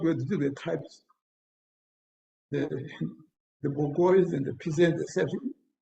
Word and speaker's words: bourgeois: He talks about, he didn't know pronounce the word properly. He said bourgeois, he meant bourgeois.